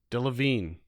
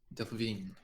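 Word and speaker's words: Delevingne: Her last name is pronounced Devine. Deavine. Deavine.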